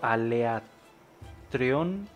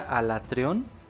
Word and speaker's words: Alatreon: Es que siento que a veces le digo Aleatreon. Se pronuncia Alatreon.